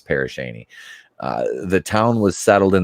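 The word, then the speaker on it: Pere Cheney: town in Crawford County West of grayling pronounced parish Shaney okay so it is parish Shaney the town was settled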